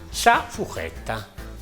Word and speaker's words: sa furchetta: La forchetta, sa fuchetta, sempre scritto sa furchetta, però la nostra pronuncia è sa fuchetta.